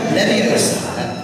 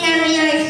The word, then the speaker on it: Leviosa: And again, Wingardium Leviosa. Mr. Weasley? Wingardium Leviosa. Stop. You only take someone higher. That's fine. You're saying it wrong. It's Leviosa, not Leviosa.